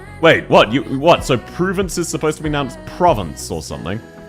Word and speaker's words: Provence: Province. No. It's Pruvence.